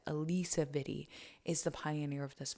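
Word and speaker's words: Alisa Vitti: mother of the movement Alysa Viti or Alisa I believe that's how it's said Alisa VI is the Pioneer of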